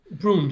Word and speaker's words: Bruun: Magnus Braun. Is that the Brune. You can say it how you how like, should I pronounce Braun? Brun? Brune, I would Brun?